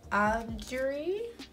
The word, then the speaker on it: Audry: But this wig is in the style Audry. Yeah, that's how you pronounce that.